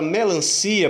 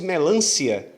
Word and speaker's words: melancia: por trás dessa acentuação Observe que a palavra melancia por exemplo não tem acento gráfico a palavra melancia eu separo o io a se eu não separar ser dessas tudo junto se a falar fosse melância aí sim eu teria que